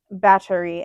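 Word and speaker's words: Báthory: Um, she is more commonly referred to as Elizabeth Baie, but uh her name is pronounced et Battery.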